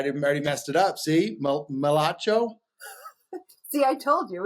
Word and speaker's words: Migliaccio: If you're going to learn how to say it, I want you to go like this first and say Migliaccio. Migliaccio.